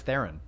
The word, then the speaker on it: Theron: I thought it was Theron. Charlize Theron? It's Charlize Theron. It's Theron, do they pronounce it like that when they say the it's movie?